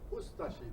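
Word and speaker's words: Ustaše: We pronounce it Ustashi. We pronounce the U and de-emphasize the ashi.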